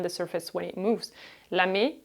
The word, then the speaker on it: lamé: Lamé has an accent on the E.